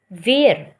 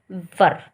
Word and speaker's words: were: द्वारा, बट आप इसको वर को वेयर नहीं पढ़ोगे। अगर आप WERE इसको प्रोनाउंसिएशन करते हो इसकी वेयर, तो दैट इज़ रॉन्ग। इसकी राइट प्रोनाउंसिएशन क्या है? वर।